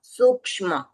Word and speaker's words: सूक्ष्म: ये क्ष यानी क और श मिलके बना है। तो क का उच्चारण भी थोड़ा सुनाई देना चाहिए ऑफिश का सूक्ष्म संपराय।